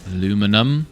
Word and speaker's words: aluminum: Aluminum, or as the British say, aluminium.